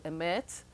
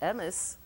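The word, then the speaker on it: אמת: They instead of writing, for example, emet, which will be aleph, mem, taf, and you're supposed to know how to say it, emes, or Shabbos, Shabbat, shin bet taf. In Yiddish we say Shabbos, but we write shin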